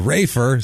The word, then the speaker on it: Rafer: I almost called him Raper just out of like it's just easier to say Raper than raer for some reason it's a easy the p is easier than the F to to pronounce my seventh grade math